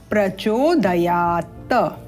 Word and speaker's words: प्रचोदयात: बाद आधा प है विसर्ग के उपरांत तो नह प्रचोदयात इस आधे प को भी उच्चारण करना है धियो जोन प्रचोदयात इस प्रकार से तो आइए इन त्रुटियों